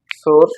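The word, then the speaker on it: src: সেটা হচ্ছে কি এমএস এস আর সি যাকে উচ্চারণ করবা সোর্স এমএস সমান সমান ইনভার্টেড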